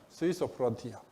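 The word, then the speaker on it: Suiso Frontier: 이름은 스위소 프론티어. 스위소가 일본식 수소 발음.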